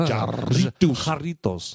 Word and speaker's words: Jarritos: We just bought Jarritos.